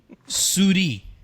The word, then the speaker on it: souris: Souris.